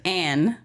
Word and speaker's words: An: it's supposed to be A-N, pronounced An. But when we came over here, they just read it as Ann and added an extra N, so it's Ann.